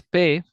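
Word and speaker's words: پ: So you see it's pe, and we say it like this, pe, right?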